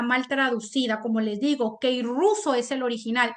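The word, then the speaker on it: κηρύσσω: pero ahí el original griego es Ke ruso que ruso se pronuncia es el original griego que ruso Qué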